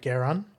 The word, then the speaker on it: Geran: this signal coming from a man called Garan, not to be confused with Gon, which is kind of how it sounded when I pronounced it last time.